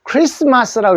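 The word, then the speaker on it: Xmas: 약자가 x 표시하는 겁니다 그래서 x 다가 뒤에 마스를 쓰면은 읽을 때 크리스마스라고 읽어 주셔야 됩니다 아시겠죠 크리스마스 요것도 크리스마스고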